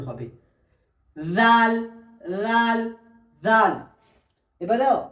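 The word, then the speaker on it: راء: রাল রাল রাল। এবারে র। র উচ্চারণ হয় এই জিভের দুই সাইড সোজা উপরের দুই তালুর সাথে লাগবে।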